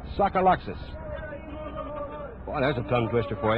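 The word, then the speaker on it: Tsagalakis: Harry Welsh suck Alexes he spells his name T sa Ga Lak is and pronounces a sucka Luxus that's a tongue twister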